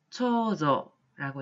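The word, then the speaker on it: 長女: 초조라고 읽고요. 뜻은 장녀 혹은 맏딸이란 뜻이 되겠습니다. 다음으로 차녀라고 쓰여 있으면 한자로는 지조라고 읽으시면 되겠고요.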